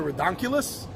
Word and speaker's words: Recoculous: Camelot, Crazier 8's Avalon, by How do you pronounce the name? I know I got it up here. Recoculous.